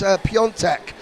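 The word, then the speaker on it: Piątek: It says it's spelt Piatek on my screen, but it's Piontek.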